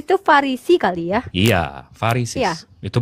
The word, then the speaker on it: Pharisees: Iya, Pharisees. Iya. Itu bacanya Pharisees.